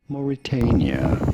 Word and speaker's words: Mauritania: Moritania, you don't want to stress on the third syllable, on the T syllable.